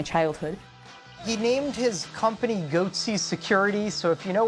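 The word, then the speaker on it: Goatse Security: They're called Goatsy Security. Is that my pronouncing that correctly?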